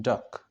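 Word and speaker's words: DUKW: amphibious trucks known as du KW pronounced duck so duck though originally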